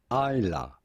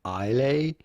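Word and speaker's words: Islay: at how to pronounce isla it is not isla but rather isla single model scotch excellent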